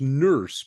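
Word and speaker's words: Nourse: guy named alen e it's pronounced nurse but it's spelled n o RS e alen e nurse and at the beginning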